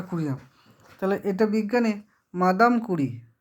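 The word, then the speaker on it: Curie: কি তাহলে সিএম এটা হচ্ছে মইলু এটা কুরিয়াম বানানটা কুড়িয়া তাহলে এটা বিজ্ঞানী মাদাম কুঁড়ি বিজ্ঞানীটার নাম হচ্ছে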